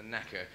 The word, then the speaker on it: naker: No, really, it might be pronounced naker, but we prefer to think of it as a knacker.